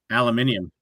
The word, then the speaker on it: aluminium: You know how they pronounce it overseas in uh jolly old England? Iron. Aluminium. Aluminium. Oh, yeah. Aluminium. Aluminium. Aluminium.